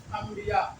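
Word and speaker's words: انبیا: से आगे है अंबिया लिखा तो रहेगा अन लेकिन पढ़ेंगे हम लोग अम यानी ई पढ़ेंगे अंबिया इसी तरीके से आगे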